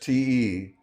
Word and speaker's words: te: Unstressed TE sounds like chi. Eu te amo. Eu te disse.